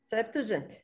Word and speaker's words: Septuagint: I believe I didn't pronounce it correctly. Can you help please, Akram? Yeah, Septuagint.